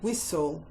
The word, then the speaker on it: whistle: And he also had a whistle. W, silent H, I, S, silent T, L, silent E.